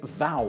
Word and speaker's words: thou: It has been speculated by linguists that we're all actually pronouncing thou wrong. It should actually be pronounced similar to you.